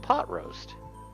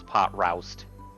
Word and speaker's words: Pot Roast: And Mercenary A, which is, of course, Pot Roast. I always, as a kid, mispronounced his name as Pot Roust. Because R-O-W. Well, I mean, that's what it looks like, but... Pot Roust.